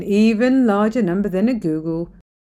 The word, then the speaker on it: googol: few zeros here and go to the next number which is called the Google the this here has got 100 zeros it's also the name that inspired Google and you'll notice that it's spelled a little differently thanks to the company's founder who accidentally misspelled the name he chose the name